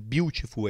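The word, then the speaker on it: Biutiful: ele fez beautiful e a pronúncia É essa mesmo beautiful é escrito com i como apareceu aqui na tela e foi indicado novamente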